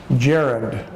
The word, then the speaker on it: gerund: idea for you it's called a gerund that's pronounced Jarrod Jarrod Jarrod Jarrod is when we when we